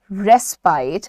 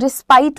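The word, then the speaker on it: respite: Word use करते हैं रेस्पाइट। इसको बहुत सारे लोग रिस्पाइट बोलते हैं, रिस्पाइट नहीं है ये, the correct pronunciation is रेस्पाइट।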